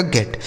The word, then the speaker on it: get: GET, जी से हो गया दोस्तों ग, इस ई का उच्चारण एक ही मात्रा और टी से ट, इसे पढ़ा जाएगा गेट।